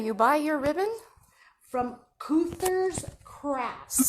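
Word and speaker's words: Keuther's: From Cuther's Crafts. Spell it, K. K-E-U-T-H-E-R. Cuther's.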